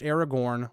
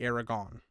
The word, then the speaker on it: Aragorn: But for my basically entire life, I pronounced Aragorn like Aragon because that's the way they do in the movies. I watched the movies first. Okay, I know the movies, they don't always pronounce it that way. But for the majority of the time, they pronounce it Aragon.